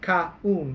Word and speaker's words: kaun: But in Cebuano it's kaun. Yes. Every Kaun. word. It's almost like two syllables.